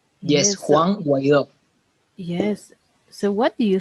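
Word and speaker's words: Guaidó: That's Yes, the correct pronunciation. yes, Yes. So, Juan Guaido.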